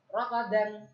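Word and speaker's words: رغدا: র ফাতা র, গাইন ফাতা গ, র গ, দাল আলিফ দুই জবর, দান, রাগাদান, রাগাদান, রাগাদান।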